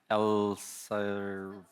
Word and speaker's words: Elsevier: Docysine and Elir. It's three syllables.